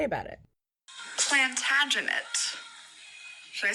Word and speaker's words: Plantagenet: resident Shakespeare scholar Odessa cross for the correct pronunciation of this word and this is what she had to say about it plantagenet should I say it again like they do